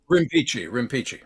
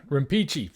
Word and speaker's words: Rimpici: Is that how you pronounce it? Rimpici. Rimpici.